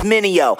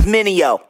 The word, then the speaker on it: Mineo: Try say my name, it's Mineo. Say it with me, Mineo.